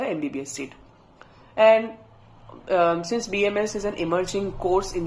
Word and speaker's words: BAMS: and also the fact it is pronounced as BMS and not bamps yes that should be